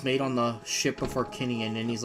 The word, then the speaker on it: Harkinian: The reason why we know how it's pronounced is because it's supposed to be named after the King of Hyrule, King Harkinian.